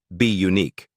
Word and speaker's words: Bunique: In 2013, she launched a modeling and talent agency called Bunique, pronounced be unique, which focused on nurturing emerging talent while remaining rooted in family and community.